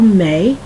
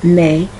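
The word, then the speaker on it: Mai: y which is May you can also spell May which is more of a name m a i some people spell their name m a i which is also May or I've seen the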